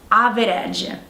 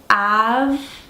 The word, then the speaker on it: average: So the mistake is saying average or something like that. The correct way to say this word is average. So we have two syllables.